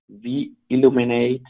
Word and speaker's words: WE illuminate: and we have, as described, the WE illuminate, pronounced V Illuminate app, available free of charge for your mobile app.